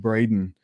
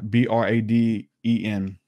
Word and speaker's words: Braden: many others in that same strain uh greg braden talks about the mechanics of prayer what happens